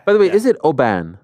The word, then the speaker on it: Oban: the way is it Oban it's Oban yeah oh so we keep saying wrong huh we saying I'm saying like auan but it's Oban Oban it's like it's